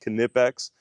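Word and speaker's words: Knipex: I used to have the Kipex, and that's exactly how it's pronounced, Kipex.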